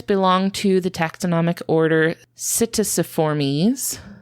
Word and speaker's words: Psittaciformes: I'm really struggling with this word because it has a silent P in it that's really throwing me off. That's fun. Yeah, it starts with the letter P, but you don't pronounce it.